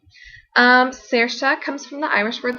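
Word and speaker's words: Saoirse: going to really think oh s a o i r s e oh that's pronounced Sara um however I ended up choosing Sara as the winner and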